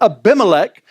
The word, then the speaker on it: Abimelech: But Abimelech is how you say his name, and you'll see his name pop up in a minute.